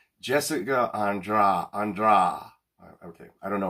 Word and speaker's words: Andrade: male name andra and she pronounces it just a portuguese way just like they say h instead of r so it's jessica andra andra okay i don't